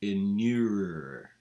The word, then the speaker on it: inure: So that's the word of the day, to inure. And it rhymes with manure.